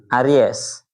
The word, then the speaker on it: Aries: Aries. Bahasanya benar ya. Aries gitu ya bacanya ya.